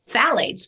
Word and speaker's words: phthalates: candles and all of the things that have phthalates, which are PHTHALATES, which is spelled a funky way, but phthalates are a group of endocrine disrupting chemicals in fragrances.